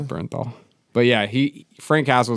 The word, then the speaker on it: Bernthal: John Burn how do you pronounce Bernthal? Yeah. Is it Bernthal? It's Bernthal.